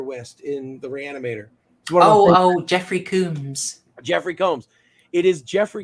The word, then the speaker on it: Combs: I'm being told off for how I pronounce Jeffrey Combs. You guys might be right. Several people have told me it's Combs, but I always thought it was Combs. I have always heard it pronounced as Combs, and I'm pretty sure I've heard him pronounce it as Combs as well.